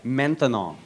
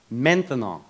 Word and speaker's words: maintenant: That's right, maintenant. Maintenant. 3 syllables, that's a long word for now. By the time you get finished saying maintenant, it's no longer maintenant.